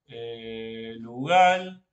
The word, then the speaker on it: lugal: Entonces, lugal se escribe en este orden, galu, pero lo pronunciamos lugal.